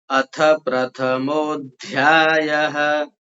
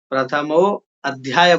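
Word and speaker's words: अथ प्रथमोऽध्यायः: क्या होता है कि अथ प्रथमोध्याय में बहुत से लोग अथ प्रथमः प्रथमो अध्याय बोल देते हैं। ठीक है ना? तो वो गलत है। प्रथमो बोलेंगे तो फिर अध्याय नहीं बोलेगा। यदि प्रथमा बोलेंगे फिर अध्याय बोलेंगे तो ठीक है। तो यहां हमको जैसे लिखा है वैसे ही उच्चारण करना है। उसमें अ नहीं लगाना है।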